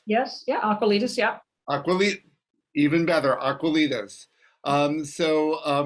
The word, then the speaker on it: Aqualitas: the ceo and founder of i hopefully i'm pronouncing this correctly aquilitis yes yeah aqualitis yeah even better aquilidos so myrna thank you